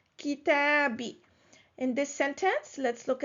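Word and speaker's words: كتابي: So this was done for ease of pronunciation because it is hard to pronounce when there is a dhamma and then after it there is a kasra. So this was a pronunciation change. It is pronounced kitabi.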